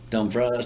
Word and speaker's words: Dumfries: have a pronounce at dumfries or dumb fries dumb fries don't freeze uh south of washington